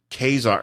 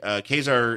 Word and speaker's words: Ka-Zar: Ka-Zar is not dressed like he is in the. Oh, he's just wearing slacks. But he's dressed kind of like. I like it because it rhymes with Lazar.